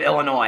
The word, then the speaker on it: Illinois: of an i you don't say s on the end of Illinois it's like when people are like yeah my sister moved over to Illinois I'm like you don't say Illinois it's not Illinois okay you say Illinois you don't say Illinois with an S okay well I said